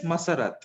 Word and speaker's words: Masarat: who's my third one masara that's you right i can't hear you yes stephen ah okay your name is masarat you are pronouncing correct yeah you're pronouncing it absolutely correct what does the name